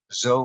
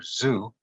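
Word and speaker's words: זו: would say gam the you can pronounce that word zo or Zoo but in re Hebrew zo the stewards for the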